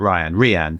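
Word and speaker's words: RYaN: Some people pronounce it Rian.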